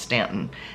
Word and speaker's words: Staunton: So we went down to the Staunton or Stanton area, depends on how you pronounce it. It looks like Staunton, but I've been told it's pronounced Stanton.